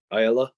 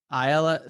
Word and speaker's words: Ayala: past two years but drake aiela is that how you pronounce it ayala yeah ayala three-time fargo champ that